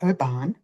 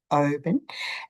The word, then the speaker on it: Oban: Then I went across to Oban, not Oban, Oban, and stayed for 2 nights. Then I went up north and then I came back to Oban.